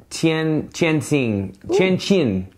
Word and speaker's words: Tianjin: The next day we went to a town called, let me see if I can get this right, Tianjin. Cool. Okay, I know it's hard to pronounce.